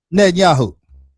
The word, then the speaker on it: Netanyahu: Netanyahu.